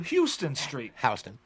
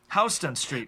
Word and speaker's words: Houston Street: But in New York, you also have NoHo and you have Soho, but that refers to Houston Street. Houston Street.